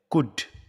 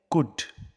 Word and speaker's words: could: इसका सही प्रोनंसिएशन है कुड इसमें जो यह एल है यह एल साइलेंट है तो इसका सही प्रोनंसिएशन है कुड मेरे साथ पढ़ो कुड